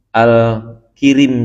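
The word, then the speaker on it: الكريم: Bi fathil kafi, dibaca dengan fathah kaf. Ya, alal masyhuri, menurut pendapat yang masyhur. Jadi ka ya, wa yajuzu kasruha, dan boleh juga kasrah. Tapi saya jarang nih ketemuin al-kirim jadinya kalau begitu ya.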